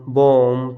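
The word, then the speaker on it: bomb: अगर एम के बाद में आपको कहीं पर बी दिखे तो वहाँ पर बी का उच्चारण नहीं करेंगे। यहाँ देखो कॉम, बॉम, थम, डम, ये हमने देखे 2-3 एग्जाम्पल से।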